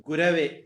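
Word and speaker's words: गुरवे: அஞான விதாந்தாஸ்யான ஞானசலாயாதயே நமக அது குரவே குருவேன்னு சொல்லக்கூடாது தமிழ்ல தான் குருவே சமஸ்கிருதத்துல குரவே ஒன்னு ரண்டாவது கவிதா வந்து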